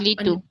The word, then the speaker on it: Clietu: पीछे टेका लेके बैठे ये आपका क्या है, ये CLIETU, what is the pronunciation? आप लीटू, लीटू लीटू।